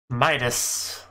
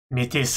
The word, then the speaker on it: Mitis: Midas. Midas touch. Mitis is how she pronounced it.